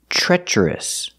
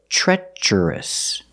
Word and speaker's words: treacherous: it's an adjective pronunciation treacherous the TR In the Beginning Sounds like the CH sound in chicken like in tree and try TR makes the CH sound so treacherous the first vowel is